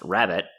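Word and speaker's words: Rab.it: apparently in july 2019 Rab dot IT pronounced rabbit it was acquired by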